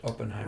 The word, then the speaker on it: Oppenheimer: actually met the creator of it and uh openen Heimer right is that how I say his name Robert Oppenheimer Robert opener okay yes and uh this gentleman